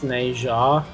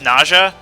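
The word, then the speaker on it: Nezha: through Smite playing as Neja, just so I could make a joke. Is that spelled N-E-Z-H-A? Yeah. Is that pronounced Naja? Yeah, I think it is.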